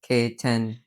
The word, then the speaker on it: Ketan: Ketan. Yeah. Is it Ketan or is it Ketan? Well, to introduce myself, people can't pronounce it. I say K and 10 put together. K10.